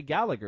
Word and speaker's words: Gallagher: I'm not saying fucking Gallagher. It's Gallagher. Fuck off. I hate people that say. Stop it. What does he say? Does he say Gallagher or does he say Gallagher?